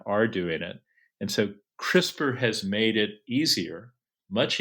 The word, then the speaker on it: CRISPR: that whoever named it named it in a way that gave it a short pronounceable acronym like crisper crisper has made DNA